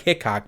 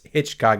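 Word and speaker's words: Hichcock: It looks like Hickok, but it's Hitchcock is how you're supposed to pronounce it.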